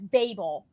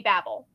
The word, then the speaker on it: Babel: the story of Babble which no one in their right mind says Babel as as Babel when it's B A BBL l e so like in my mind it should always be Babel just regardless but uh